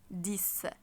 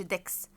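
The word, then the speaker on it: dix: هتلاقي شبه شبه رقم فوق اسمه ديس ديس شبه مين اللي اتنطق كده برض سيس يبقى شايفين الاكس بصوا هي فرق بس بين حرف الاس والدي فوق قلت سيس لكن تحت قلت ديس ديس الاكس ماقولش ديكس وهنا ما بقولش سس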